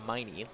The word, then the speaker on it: Miney: and that's funny, but it's pronounced Miney. Like, ouch, my knee hurts.